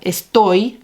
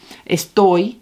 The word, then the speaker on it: estoy: So we have estoy doesn't need an accent because it ends in a Y. So esttoi, it lands on that second syllable.